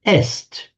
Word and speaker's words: est: with the Latin word est is and in modern French written written the same but pronounced e he she it is